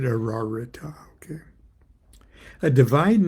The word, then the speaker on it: Ararita: under the presidency of the Sephath and the sevenletter name Ararita or Ararita. I pronounce it Aarita.